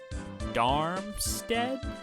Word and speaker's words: Darmstadt: sea white wings and darmstead is how you pronounce it darmstadt the west continental has